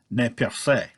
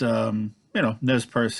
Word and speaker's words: Nez Perce: He was a member of the Nez Perce, which, if pronounced according to the correct French, would be Ne Perce. But Nez Perce is the Americanized, kind of like Iroquois and Iroquois.